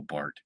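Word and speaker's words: Barth: look it up and it's spelled b-a-r-t-h that they the H is usually silent in the way people say it so it's Carl Bart anyway Carl Bart was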